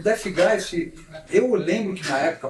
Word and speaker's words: Deathgeist: É, mas assim depois até você acaba acostumando, tendo essa ideia da da pronúncia death guys.